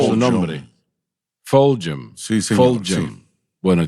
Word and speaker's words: Fulgham: Y bueno, todavía se me hace un poco difícil pronunciar su nombre. Fulgham.